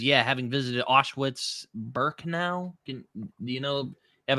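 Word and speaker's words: Auschwitz-Birkenau: like little uh Max says, "Yeah, having visited Ashwitz Burkan. Can do you know have a better pronunciation for that, Ref? Did I pronounce it right?" Um, you pronounce it Awitz Burkenau.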